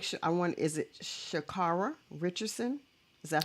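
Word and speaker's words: Sha'Carri: Is it Shakara Richardson? Is that how I pronounce her Shakari name? Richardson. Shakari Shakari Richardson.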